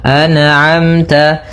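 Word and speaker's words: أَنْعَمْتَ: Maka hati-hati dalam melafalkan huruf atau bacaan an'amta, jangan sampai terpantulkan misalkan an'amta alaihim, an'amta memantul huruf nun-nya karena sifat nun tidak boleh mantul. Maka dibaca dengan an'amta, an'amta, nah kemudian sempurnakan antara hamzah dan ain dibedakan. A, kemudian a. An'a, an'amta, kemudian ta, jangan terlalu banyak yang ta, tapi biasa saja ta.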